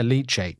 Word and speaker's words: leachate: it leate oh yeah leachate cuz it like leech out of course yeah is any liquid